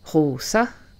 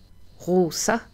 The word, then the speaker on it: Rosa: S, là c'est toujours S, jamais Z. Donc, Rosa, pas Rosa. Rosa et Elsos.